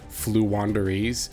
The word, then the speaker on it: Floowandereeze: is going to be i've said this name wrong in the past but i'm pretty sure it's flu wanderies uh you know as